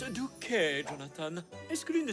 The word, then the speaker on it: Duc: Douquet, ça se prononce Duke Jonathan.